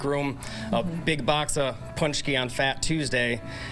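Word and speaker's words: pączki: So can you kind of help us out on maybe some pronouncers or the singular, or if it's plural? Yeah, Poonch-key in itself with the I at the end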